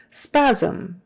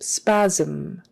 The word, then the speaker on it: spasm: on the end sore spasm spasm that sm is kind of like a zm spasm spasm and your lips